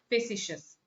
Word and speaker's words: facetious: That's how it is pronounced, facetious.